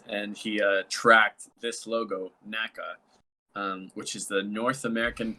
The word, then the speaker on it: NACA: I was actually gonna ask you, like, is it NASA? No, it's It's NACA. NACA. NACA. It's not NASA.